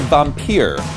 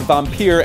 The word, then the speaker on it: Vampir: The Headis Las Vegas Classic semifinals will feature Beer Vampir, pronounced vampire in English, but only rhymes in German, so we'll stick to German, Sniper Schorsch, Petty Potter, and Rolly the Butcher.